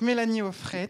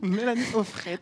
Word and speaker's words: Mélanie Auffret: Mélanie Offret. On prononce toutes les lettres en breton.